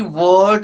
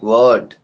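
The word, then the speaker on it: Wurtz: इस रिएक्शन को भी वर्ड रिएक्शन कहते हैं। कई जगह इसका प्रोनाउंसिएशन अलग है। तो जो आपको अच्छा लगे वो प्रोनाउंस करिए। इसको वर्ड रिएक्शन कहते हैं। ठीक है? वर्ड Z silent वर्ड।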